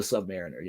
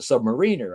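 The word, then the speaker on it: Sub-Mariner: I was always the Submariner. I of course I pronounced it Submariner. I didn't know until I was 20 something that it was Submariner.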